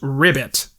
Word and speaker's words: Ribbit: There they accidentally activate a killer robot, although Marbles insists it's pronounced rivet. The ribbit chases them around the